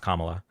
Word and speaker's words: Kamala: Number one, it's pronounced Kamala.